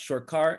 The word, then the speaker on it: Sarkar: episode sir sarkar it's pronounced short car in bengali so aka shaka shakapella